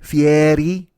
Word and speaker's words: Fieri: then everybody else Guy Fieri Fieri I know I think Mex makes fun of me when I say it like that but that's the way he says his name for